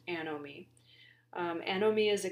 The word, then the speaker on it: anomie: concept of anomie so this is pronounced a know me a know me is